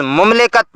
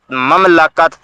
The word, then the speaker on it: مملکت: ہے، جو غلط ہے۔ ریاست کے لیے میم کی پیش کے ساتھ لفظ مملکت بولا جاتا ہے۔ یہ عربی لفظ ہے اور عربی میں اس کا صحیح تلفظ میم کے زبر کے ساتھ مملکت، مملوکہ اور مملکہ ہے، اور اس کے